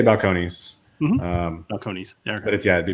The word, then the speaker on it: Balcones: Suellen Los Angeles Los Angeles right we say Balcones mmm Kony's yeah I'd be buck lowness okay